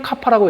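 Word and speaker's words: κ: 뮤 값이 어떻고 저건 뮤라고 읽습니다. 우리가 보통 뒤에다가 M을 갖다 붙여서 마이크로미터 이렇게 이야기를 할 때는 접두사로서 마이크로라고 읽지만은 뭐라 그럴까? 저 이제 접두사로서 저렇게 이제 읽을 때는 K는 카파라고 읽고요. 저 뮤는 그 다음 거는 이제 뮤 이렇게 이제 읽어요.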